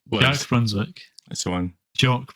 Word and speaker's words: Jacques: Jock Brunswick, not Jack.